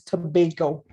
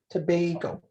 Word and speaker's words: Tobago: way we pronounce it the way the government and the way the locals pronounce it is tobago like tobago okay so we